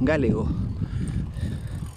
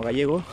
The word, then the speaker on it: galego: Galego. Puede ser como gallego, pero es galego.